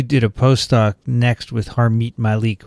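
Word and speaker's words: Harmit Malik: a post-doc next with harmeet malik right that is correct am i saying it correctly harmeet or is it harm it it's hermet malik i'll leave malik and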